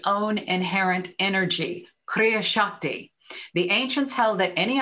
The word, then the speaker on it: kriya shakti: in the teachings of theosophy this is called kriya shakti kriya shakti it's spelled k-r-i-y-a-s-a-k-t-i it's written about in the secret